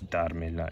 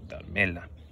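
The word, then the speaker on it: dármela: Okay, even though we're adding a couple syllables on, we're still not changing the word stress. It's darmela, it's not darmela.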